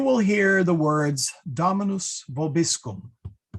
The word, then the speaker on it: vobiscum: hear the words Dominus vobiscum. The O is actually short, okay? What you will often hear, though, is Dominus vobiscum. And the reason for that is the accent is on this O.